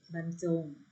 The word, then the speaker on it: บรรจง: กัน นะ ทำ แรก บรรจง อ่าน ว่า มัน จง หา คือ การ เขียน